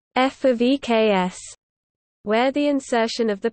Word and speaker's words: ƒ(x): For example, when using English, the expression fx is conventionally pronounced f of eks, where the insertion of the preposition of is not suggested by the notation per se.